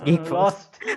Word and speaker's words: G33K_FORC3: And no, it's Geek Force. I butchered it.